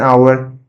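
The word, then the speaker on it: hour: तो अगर H silent है और वहां पर ओ बाद में है या इ बाद में है या कोई भी वोवेल लेटर है बाद में एच के बाद तो कोई भी वोवेल लेटर है। अगर वो साइलेंट है तो हम लोग वोवेल लेटर को कंसीडर करते हैं। जैसे कि एन आवर an honest mistake.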